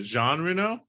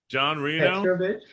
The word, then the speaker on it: Jean Reno: How do you pronounce it? Jean Reno. Who? John Reno.